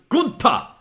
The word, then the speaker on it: Gunther: Bartel, and Gunther, and he goes, "Nein, it's pronounced Gunther," but then the crowd are all just going, "Walter."